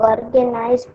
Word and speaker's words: organism: The process by which living organisms produce live organisms of the same kind is called reproduction. Okay, thank you, beta. See, actually, that pronunciation is organism.